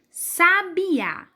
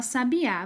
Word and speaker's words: sabiá: É interessante como a gente fala sabiá. Vamos falar comigo? Sabiá. Eu vou falar e vocês podem repetir. Sabiá. Vocês conseguiram notar que tem uma sílaba que a gente fala com mais força?